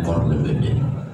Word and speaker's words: Korlabada: Orang Madura itu Korlabada itu mestinya bacanya Korlebede.